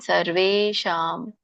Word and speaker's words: ಸರ್ವೇಷಾಂ: ಉಚ್ಚಾರಣೆ ಯೋಗಿನಾಮಪಿ ಸರ್ವೇಷಾಂ. ಅಲ್ಲಿ ಅರ್ಕಾವಳಿ ಇದೆ, ರ ಹೇಳ್ಬೇಕು, ಆಮೇಲೆ ವ ಹೇಳ್ಬೇಕು.